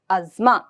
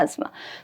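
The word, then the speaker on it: asthma: मतलब आपको, इसको वैसे अस्थमा पढ़ते हैं हमारे यहाँ, है ना, लेकिन इसकी रियल प्रोनाउंसिएशन अज़मा होती है, ठीक है, अज़मा। तो मैं अस्थमा या अज़मा दोनों बोल देती हूँ।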